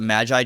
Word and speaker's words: Magi: So I pronounce it Magi just because I played a lot of games and usually they're called Magi, but you can call it Magi if you want.